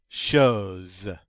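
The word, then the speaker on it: chose: come join me in shows i like that word remember ch is the sh sound in french that intervocalic s between two vowels is going to be pronounced like a z e and that means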